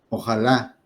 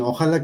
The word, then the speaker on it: ojalá: que viene del árabe Ojalá lleva acento en la última pero muchos dicen Ojalá que mañana no sé qué Ojalá sí y está mal y así lo